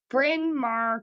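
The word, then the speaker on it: Bryn Mawr: Bin Mar College. That doesn't sound awful, but it's spelled B R Y N M A Wr.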